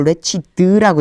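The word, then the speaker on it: wretched: 라고 읽지 않고 레추드라고 읽어요.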